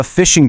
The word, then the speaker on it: phishing: Okay, let's start with the number one way attackers get in the door, the phishing trap. And the name, spelled with a ph, says it all. It really is like fishing.